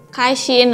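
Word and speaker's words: 开心: Ini bacanya kai. Kemudian shin. Misalnya seperti ini. Kai shin artinya bahagia. Contoh kalimatnya apa nih, Kak Caca? Contohnya, wo jin tian hen kai shin. Artinya, aku hari ini bahagia banget.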